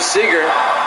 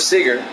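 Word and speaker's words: Seager: Council and one to Seeger in their first strike Owen two I think it's pronounced Sager Kyle Sager I'll make sure I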